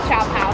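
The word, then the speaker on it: siopao: This is called Xiao Pao. I pronounce it Xiao Pao at the desk, and the woman just served it to me and said Xiao Pao. So that's what they said.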